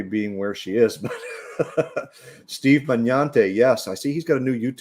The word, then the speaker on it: Magnante: The G is silent, so it's Magnante. Magnante.